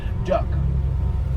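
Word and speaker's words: DUKW: how you pronounce it duck I know the W is silent d stands for the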